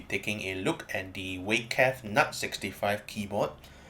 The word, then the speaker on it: Weikav: And today we'll be taking a look at the week cat nut 65 keyboard. If you want a more accurate pronunciation, actually call Waka.